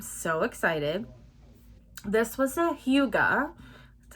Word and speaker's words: hygge: hayden rowe i'm so excited this was a huga that's how you say it i looked it